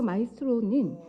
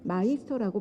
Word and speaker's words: 마이스터: 그꿈을 향해라 자막이 나오는데 여기서 마이스트로 유 유흥 씨는 마이스터고 발음하고 그 뜻은 장인 명인 거장이라는 독일 단어로 한분 최고 경지 일은 전문가를 지칭할 때 쓰는 말로 마이스터 고등학교 명칭의 유례가 된 그 단어이며 사전을 찾아보아도 마이스트로 아닌 마이스터고 나옵니다 독일어 마이스터는 현대에 와서